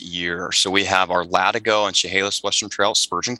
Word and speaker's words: Latigo: Is it LATIGO? We actually reached out to a local historian, somebody who's lived there, his family history. It is LATIGO because that is the term for the strap that's underneath a horse's saddle.